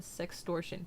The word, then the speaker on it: sextortion: Pronounced like extortion, sextortion.